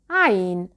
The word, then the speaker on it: عين: عين is articulated from this point. ع عين. You can start with ha because it has the same articulation point, but ha is voiceless while عين is voiced.